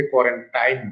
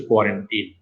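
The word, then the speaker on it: quarantine: অনেকে এটাকে কোয়ারেন্টাইন বলে, আসলে শব্দটার সঠিক উচ্চারণ হচ্ছে কোয়ারেন্টিন।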